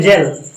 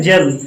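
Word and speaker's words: gel: जैसे हम लिखते हैं जेल, क्या लिखते हैं, जेल यूज करते हो ना, कहाँ पे, हेयर पे यूज करते हो ना। हाँ, हमें पता करते हो आप लोग भाई। जी के बाद क्या आया, ई आया, जी के बाद ई आया, इसीलिए हमने जी का उच्चारण क्या किया, जा किया, क्या किया, जा किया, इसीलिए बोलते हैं जेल।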